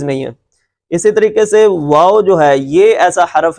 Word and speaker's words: واو: کس طرح ادا ہوگی، دونوں ہونٹوں کو صرف گول کرنا ہے، واو۔ شروع میں بھی ہونٹ گول کریں گے، آخر میں بھی، اس لیے کہ اس کا تلفظ ایسے ہے، واو۔ اس میں اوپر والے دانت نچلے ہونٹ کے ساتھ نہیں لگنے چاہیے۔ لیکن جو اگلا حرف